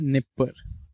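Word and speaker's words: Dnieper: इसका नाम क्या है, इसका नाम है निपर, डी निपर, डी साइलेंट है, ठीक है।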